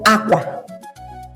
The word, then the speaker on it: àkwá: If I want to say clothes, it's called Àkwá. Àkwá. What is the tone mark that is best for Àkwá?